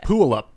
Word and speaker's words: Puyallup: Oh, and it's Puyallup. We were saying that. Puyallup. Yeah. No, not We can't pronounce words on this show.